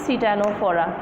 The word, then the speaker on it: Ctenophora: The pronunciation is Ctenophora.